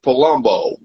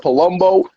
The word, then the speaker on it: Palumbo: When I heard Palumbo, I don't know why. I know it rhymes with Columbo, but for some reason, I'm like, maybe he was like playing with the letters inside.